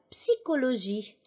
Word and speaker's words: psychologie: la psychologie la psychologie n'oubliez pas encore une fois de prononcer le p en français la psychologie aussi anne elle est